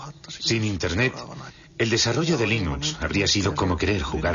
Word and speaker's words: Linux: Bueno, yo Linux lo pronuncio Linux. Sin embargo, si fuese Linux Thorbals, no hay duda de que lo pronunciaría Linux.